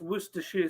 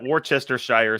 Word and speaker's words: Worcestershire: guy trying to say have you come across worcestershire sauce yet are you asking me are you talking about video yeah yeah you yeah oh yeah no we have okay well we call it worchestershire sauce but and i'm like man this this